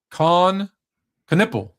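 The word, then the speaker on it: Kon Knueppel: Um, Khan Canipple. Mhm. Did I say it right? Yes, sir. That's his name. Coniple is the at least Charlotte thinks the face of the franchise.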